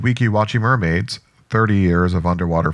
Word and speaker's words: Weeki Wachee: of the most interesting attractions, the Mermaids of Weeki Wachee Springs.